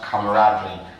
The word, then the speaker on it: camaraderie: Then the word camaraderie, this is pronounced camaraderie.